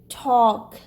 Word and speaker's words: talk: But here AL is followed by K, so it will be pronounced like O, as in walk, chalk, talk.